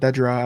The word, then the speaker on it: Dedra: he's technically working with Dedra, I believe right? I believe that's how you say her name. So it's Dedra, yeah.